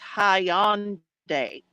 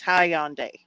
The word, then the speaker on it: Hyundai: getting the right pronunciation it's it's actually pronounced Hyundai oh really okay see we're learning things today y'all that's how they say it over there where you know it's made it's high on day okay yeah um and